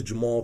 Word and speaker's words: Jamarhl: YouTube channel right right now my name is Jamal uh my name is spelled a little strange j-a-m-a rhl if you